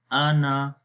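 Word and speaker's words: أنا: We will say only hamza and noon, and then with the short sound ana. We say again hamza fatha a, noon fatha na, ana, ana, ana.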